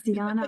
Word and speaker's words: Diana: It's Diana. It's the original because it comes from the Roman goddess. So they pronounce it Diana.